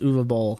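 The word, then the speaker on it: Uwe Boll: announces that he is going to be fighting U ball what does that mean u b German film director very word name spelled UAB Bal but it's actually pronounced uall I looked this up I had the the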